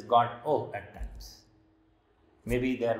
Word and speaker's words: Godot: waiting for an unidentified person godot which which is pronounced as god oh at times maybe they